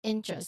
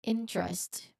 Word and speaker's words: interest: So that is interest. Let's try the word interest, making sure we pronounce both the N and the T.